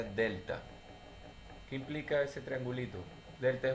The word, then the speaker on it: delta: que tomar en cuenta este triángulo está aquí se pronuncia delta que implica ese triangulito